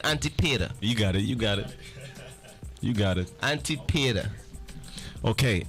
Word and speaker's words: Antipater: Antipater.